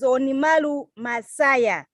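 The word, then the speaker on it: 鬼丸昌也: So let me pronounce his name correctly. His name is Onimalu Masaya.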